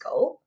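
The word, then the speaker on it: 五: Um while talking about the fives um the number is actually symbolic uh because in Japanese the number five is pronounced go.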